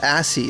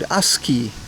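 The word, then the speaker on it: ASCII: Oh, I now know how to pronounce it. The katakana said asi. I always said asie or something. Aski.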